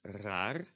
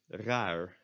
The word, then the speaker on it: raar: in Dutch, which is raar, spelled R-A-A-R. And most Dutch speakers, me included, would not pronounce the last R as the front or the back R, but as the English R.